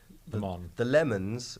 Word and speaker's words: Le Mans: Christian Bale is in a movie called Ford v Ferrari about the Le Mans, the Lemons 24-hour endurance race starring Christian Bale. That is how Christian Bale will pronounce it in his accent.